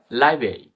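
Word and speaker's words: library: ফেব্রুয়ারি এরকম উচ্চারণ হবে এরভাবে লাইব্রেরি এল আই বি আর এ আর ওয়াই লাইবে বলে আমরা লাইব্রেরি হবে না কিন্তু লাইব্রেরি লাইব্রেরি মানে হালকা সাইলেন্স অলমোস্ট সাইলেন্স ধরা যায় তো ও সাইলেন্সারকে দেখি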